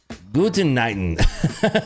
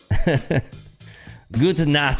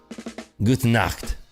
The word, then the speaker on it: Gute Nacht: How do you say good night in German? Guten Nighten. What is it? Gute Nacht. I can't say that right. Gut Nacht. Gute Nacht.